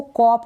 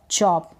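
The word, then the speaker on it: chop: फिर ये है चॉप, इसको कॉप ना पढ़ें, CH को कहीं क पढ़ रहे नहीं, CH च, चॉप, CH को चॉप पढ़ रहे हैं।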